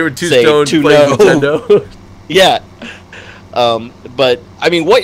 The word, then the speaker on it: Nintendo: See, and here's probably why it's Nintendo, because it rhymes with "he don't know."